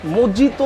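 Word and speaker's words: mojito: আচ্ছা আচ্ছা ভাই এক মিনিট, মোজিতো না মোহিতো ভাই? এটা হচ্ছে বাংলায় যদি মিনিং করেন তাহলে মোহিতো, মোহিতো বাংলায়। আচ্ছা আর যদি ইংরেজিতে করেন তাহলে এটা উচ্চারণটা হচ্ছে মোজিতো।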